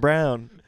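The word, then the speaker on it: Braun: assists for christian brown it's spelled brawn i really don't like how it's pronounced brown i know yeah why because it's spelled to b a-u-n yeah yeah but what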